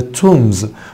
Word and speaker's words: tombs: We're going to walk to the tombs. قلنا tombs حبيبي بمعنى مقابر. اوعى تنسى البي سايلنت.